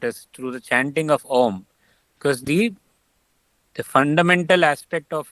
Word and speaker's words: Om: Even the Christians have the same syllables of A, O, M. The Om is basically A, U, and Im, three syllables.